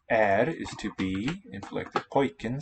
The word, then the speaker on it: pojken: Pojken sounds like boy. Yep, the first syllable.